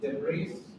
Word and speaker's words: debris: There are also probably half a million pieces of debris, too tiny to be monitored. Debris loh, bacanya S-nya nggak dibaca loh. Debris. Jadi S-nya nggak dibaca emang.